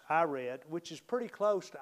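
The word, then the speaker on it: Irad: verse 18 was i i r a d which i pronounce i read which is pretty close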